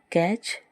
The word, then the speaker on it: catch: दूसरा एग्जाम्पल है CATCH, कैच, जिसमें जो टी है वो साइलेंट रहता है।